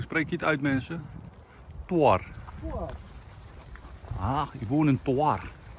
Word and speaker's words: Thorn: Hoe spreek je het uit, mensen? Toar.